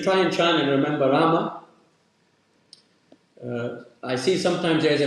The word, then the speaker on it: Rama: are singing path and we say but technically we should be saying Rama because their Mantra is 33 syllables Ram is a Hindi and uh also in English you have this tendency that we chalk up the final vowel that's like most Latin